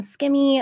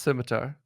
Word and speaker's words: scimitar: gave her a room skimmy at one point semi skimmy uh and say it properly it's scimitar okay so but everyone called